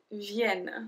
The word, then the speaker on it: viennent: So we pronounce the E like a E. Nous venons. Vous venez. Ils viennent.